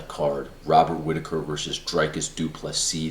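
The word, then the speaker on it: du Plessis: Robert Whitaker versus dreycus dupless C the S is silent this was the most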